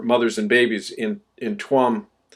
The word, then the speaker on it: Tuam: and babies in in tuam it's pronounced charm actually in Irish t-u-a-m Guam Ireland um